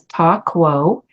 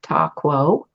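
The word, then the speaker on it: Ta Kuo: Ching name that's given for Gate 28 is Ta Quo, and it's spelled T-A, and then the second word K-U-O, Ta Quo.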